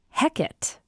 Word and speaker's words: Hecate: So in Elizabethan England, it becomes Hecate."